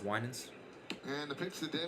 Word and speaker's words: Winans: Hey, no, can we agree on that? It's pronounced Winans.